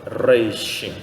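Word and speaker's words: ריש: se nós falarmos ele na ponta da língua Reich né som de Maré jacaré né Pangaré então o reix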